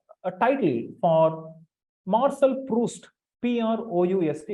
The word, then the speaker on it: Proust: title for martial proust p r o u s t it's pronounced Marshall proust a famous French novelist